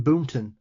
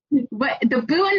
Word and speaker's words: Boonton: Jersey accent, which is the Elk Lodge in Boonton. Now, I know for a fact that's not how you guys pronounce it.